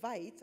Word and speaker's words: Veit: So my big push for a lot of things, before I go here, Dr. Veit, I remember she said, you remember as a dentist because it rhymes with bite.